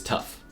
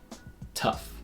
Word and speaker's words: tough: the group which have the GH pronounced as F first is tough it begins with a